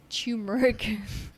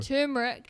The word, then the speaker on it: turmeric: And a turmeric. What's with the chew in the start? Just said Because you chew it. Just said tur. The turmeric.